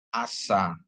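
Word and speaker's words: עשה: adalah alaku ya terus untuk Ain ditambah dengan dibubuhin dengan kamat dan Sin dibubuhi dengan kamat ya jadi bacanya asa ya asa ya ini Asa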